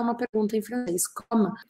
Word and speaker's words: comme: E a pronúncia é comme, paro no M, ou comment, e faço um som anasalado.